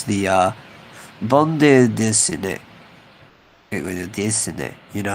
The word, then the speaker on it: bande dessinée: You probably don't even say the E. It's probably just bande dessinée.